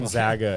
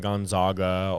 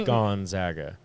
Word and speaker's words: Gonzaga: Gonzaga, everybody, not Gonzaga or Zaga. Zaga. It's Gonzaga.